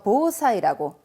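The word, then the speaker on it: 防災: 대비를 해서 자, 방제용품 발음이 보사요이 됩니다. 저 얘빵 갔다 할 때 방자 예방은 요보라고 하죠. 그래서 보사이라고 요거 탁정 꼭 있어야 됩니다.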